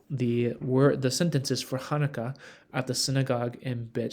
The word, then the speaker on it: Hanukkah: kind of follow along so Hanukkah is written with a het so it's really meant to have that sound at the beginning depending on your tradition